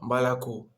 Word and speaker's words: молоко: Потому что внутри слова мы находим два О, которые это не ударение. И вот О, который это не ударение, мы читаем А. И вот мы читаем мала.